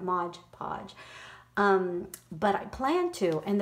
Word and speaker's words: Mod Podge: time to do any modge podge how do you say that Mod Podge but I plan to